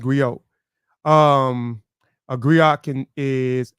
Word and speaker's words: griot: just give it the the gri is pronounced Grio um a gri can